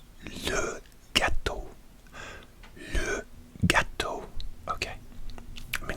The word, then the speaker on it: gâteau: Okay, so how do you pronounce gâteau? Le gâteau. Le gâteau. Le gâteau. Le gâteau.